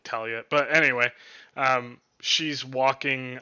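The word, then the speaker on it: Tala: think her name is it's t-a-l-a but i think they say it like talia but anyway um she's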